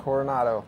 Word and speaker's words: Coronado: We're here in beautiful Coronado. Is that how you pronounce it? Coronado. Coronado Island uh in California where a glass of wine apparently costs $40.